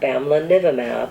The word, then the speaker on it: bamlanivimab: Then add the first two syllables. Bamla. 뱀나. Bamlanivimab.